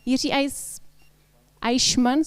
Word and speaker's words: Jiří Eichmann: I have here Jiří Eichmann, sorry, my German is not ideal, and he represents business as a desktop engineering manager at Red Hat. Am I saying it right?